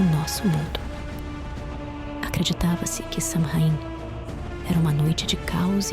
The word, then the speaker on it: Samhain: Samhain, pronunciado Samhain, era um dos mais